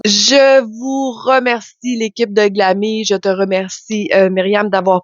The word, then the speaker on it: Glamille: Glammy, ça s'écrit Glamille.